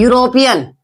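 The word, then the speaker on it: European: [गला साफ़ करने की आवाज़] यूरोपियन यानी कि ये वर्ड है इ से स्टार्ट हो रहा है। लेकिन इ हमारा यहां पे साइलेंट है। आवाज जो आ रही है हमारी यहां से कहां से आ रही है?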